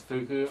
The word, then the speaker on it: Fuku: The fuck you burger. Oh no, no, my bad. Yeah, no, it's Fuku. Fuku.